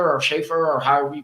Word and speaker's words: Schefter: Yeah, Mike Tenay, Adam, what is it, Schefter or Schaefer or however you pronounce Adam it? Schefter.